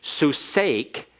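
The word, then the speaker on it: סוּסְךָ: and excuse me here it's not a silent schwa notice it's Sue is an open syllable and it's a long vowel so that means the Sonic with the schwa has to begin the next syllable it begins the next syllable and so it's vocal susake is your horse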